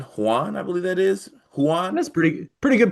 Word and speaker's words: Huan: Huan? That's pretty good pronunciation. Yeah, Huan is the what I've been hearing just from